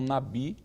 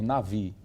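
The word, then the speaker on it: נביא: transliterações aparecer o B, deve ser pronunciado por V e não Nabi, como está inclusive na lição, não é? A transliteração, mas seria melhor transliterar por Navi, porque existe uma letra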